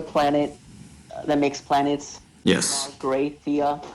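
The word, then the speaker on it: Magrathea: Okay, so they say Google says it's like Margrathia. Margrathia.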